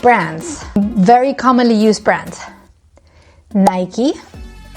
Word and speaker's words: Nike: Nike. We actually get rid of the last I.